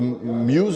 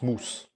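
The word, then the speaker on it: mousse: and the and the muse. You say the muse like the green the the the moss moss the moss in French it's moose and I think we're getting there.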